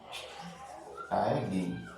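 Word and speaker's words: ptyalin: टाइलिन, ठीक है, इसमें पी साइलेंट है।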